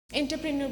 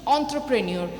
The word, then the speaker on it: entrepreneur: এন্টারপ্রেনিয়র বলতে কি, ভীষণ অন্ত্রপ্রেনিয়র, আমি এন্টারপ্রেনিয়রই উচ্চারণ করি, বা অন্ত্রপ্রেনিয়র বলতে তোমরা কি বোঝো?